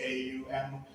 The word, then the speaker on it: om: symbol that you see it's called om pronounced Au M um so Hindus believe